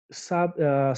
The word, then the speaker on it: sabiá: acento porque porque a toda toda oxítona ou seja a última sílaba tônica que termina ea deve ser acentuada então por isso que sabe a leva acento tudo bem então sabiá sabia tudo bem é